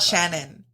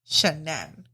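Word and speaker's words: Shanann: wife Shannon shannan shannan let me make it clear it's not Shannon shanan so from what I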